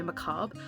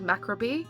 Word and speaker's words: macabre: how he pronounced Macabre I think he said macrobie Macabre it's macabre Different Strokes for different folks